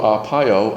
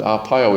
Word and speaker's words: Arpaio: And then who was the notorious Sheriff Joe Arpaio, and Arpaio is spelled Arpiao.